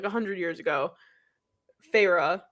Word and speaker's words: Feyre: Well, either way, she just tried to, well, not just, like 100 years ago, Feyre, which now I've discovered is exactly how you say her name, is like, she like